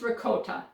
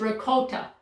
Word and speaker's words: ricotta: It is pronounced ricotta. I know that from two men who are Italian. They told me it is ricotta, like goat. Ricotta, long O.